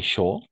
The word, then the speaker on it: chaud: peut dire il fait chaud d'accord par exemple il fait chaud n'oublie pas a et U on va toujours prononcer o il fait chaud d'accord chaud simplement chaud ici où il fait